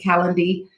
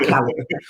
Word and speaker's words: Calendly: All you have to do is click on that link, Calendly. I always say it wrong. I want to say calendar, but it's not calendar.